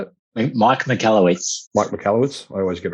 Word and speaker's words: Michalowicz: And for you guys that are not familiar with Profit First, it's a book written by Michael Witz. Is that how you say it? Mike Michalowicz.